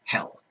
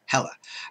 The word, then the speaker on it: Hel: 1160 to 1220 ad her name is Hell spelled with one L and no a added on she was hell not hella she is often in